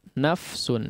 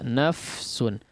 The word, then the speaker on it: نفس: Perhatikan pengucapan huruf nafsun ya, atau kata nafsun ya, nafsun. Silahkan selesaikan terlebih dahulu huruf fa-nya ya.